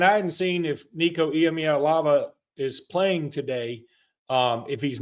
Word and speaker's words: Iamaleava: Iamaleava. Yeah, that's it. Iamaleava.